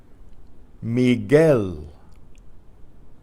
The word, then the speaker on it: Miguel: a go-go Laguna Laguna synagogue a' synagogue ah Miguel Miguel that are silent you again in la